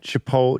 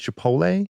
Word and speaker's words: Chipotle: Bit of feedback about how you um pronounced Y Chipotle Chipotle versus Chipotle. I uh sometimes gloss over the T.